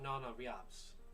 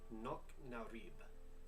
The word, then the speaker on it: Nok Narib: How far of, let me get my Irish pronunciation here. How far of Nana Riabs? No, that'd be... Nok Narib.